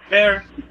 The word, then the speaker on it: Bayer: Bear. Bear, like an actual bear. Like B-A-Y-E-R. Like the aspirin.